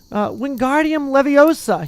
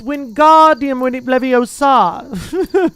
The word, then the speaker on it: Wingardium Leviosa: Wingardium Leviosa, he shouted, waving his long arms like a windmill. You're saying it wrong, Harry heard Hermione snap. It's Wingardium Leviosa. Make the ga nice and long.